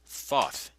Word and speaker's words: Thoth: Thought is the Egyptian god Thoth, the creator of almost every activity known to man. Thought is spelled T H O T H.